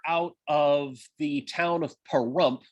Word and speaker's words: Pahrump: of the town of pahrump which rhymes with dump and visit ash meadows